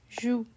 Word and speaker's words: joue: So here we have genou. How do you pronounce it? Genou. And then we have joue. Joue. Genou means knee.